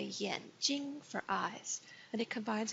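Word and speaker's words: 眼睛: trace is Yin eyes be careful when you say Yin Yin Jing a lot of people read it yeah because it's spelled with an A but remember after a wire and I in pinyin a becomes an ease out Yin so it sounds like Japanese en Yin G and notice the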